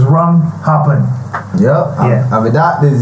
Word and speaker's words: Rum Happen: Rum Happen, not happened, because some people search for the song. I spell it HAPPENED. Nah. And it didn't come up. So it's Rum Happen.